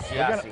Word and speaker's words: Siassi: His mother pronounces it the Italian way. He pronounces it the American way, which is Siassi.